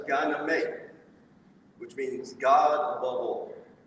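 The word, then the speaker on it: Gye Nyame: this symbol stands for peace this symbol is pronounced gyname which means god above all i think that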